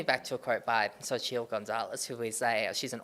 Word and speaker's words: Xochitl: Well, this takes me back to a quote by Xochitl Gonzalez, who is she's an author, an American author. So, or so how do you Mexican pronounce author. her name? Xochitl Gonzalez. Xochitl Gonzalez.